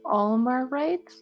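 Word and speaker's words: Omorite: It's Omerite? Like... Yeah, it is spelled, for those of you keeping notes at home, O-M-O-R-I-T.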